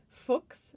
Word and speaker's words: Fuchs: german chemist and mineralogist his name is pronounced fox similar to the way you pronounce books or or like looks um so a lot